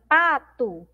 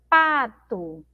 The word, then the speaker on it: pato: mais uma vez só a palavrinha pato nós pronunciamos como se tivesse um aqui no final mas nós temos uma letra o' e outra palavrinha aí